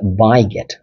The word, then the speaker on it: beget: দ্য very next word is বিগেট। উচ্চারণটা একটু ভালোভাবে করতে হবে। You need to pronounce দি word as বাইগেট.